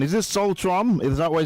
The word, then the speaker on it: Solstroem: Is it Sol Strom? Is that the way it's pronounced? Sol Strom.